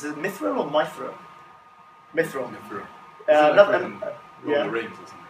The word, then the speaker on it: Mithril: One's called, I don't know how to pronounce this, is it Mithril or Mithril? Mithril.